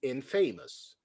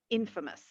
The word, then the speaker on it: infamous: it it would be infamous no well if you walked around saying in famous you wouldn't be famous you would be infamous yeah so it's infamous to pronounce it in